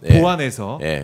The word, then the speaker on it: 보완: 그런 거냐 이 정확하게 발음을 안 알아두시고 보완 수사라고 하시는 분들 있지만 보완입니다. 보완 보완에서 미변한게 있으면은 보충에서 완성한다는 보완 이거를 보완이라고 생 생각하시면 예 그거는 아니고요.